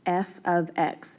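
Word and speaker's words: f(x): So first of all, this right here, if you heard me say that, is pronounced f of x, which you should probably write down.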